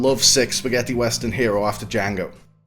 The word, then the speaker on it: Django: Tarantino paid tribute to this tradition when he named his own lovesick spaghetti western hero after Django. The D is silent.